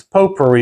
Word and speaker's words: potpourri: have neither one today it's po per for those of you who are you know distinguished and have a little bit of Education it's pot per to me it's just phonetically read and any rate uh